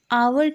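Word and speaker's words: hour: ही यूज़ करते हैं, जैसे आवर के आगे भले ही उसकी स्पेलिंग एच से शुरू हो रही है बट उसका जो प्रोनंसिएशन है उसमें ओ पहले आता है, इसीलिए ओ वॉवल है,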